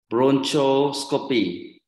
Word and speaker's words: bronchoscopy: so uh for example bronchoscopy all right so remember CH in English sometimes they will pronounce as K so Bronco bronchoscopy bronchoscopy